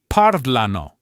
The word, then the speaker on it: parlano: So, after our golden rule, the next most common pattern you'll find is the stress falling on the third to last syllable.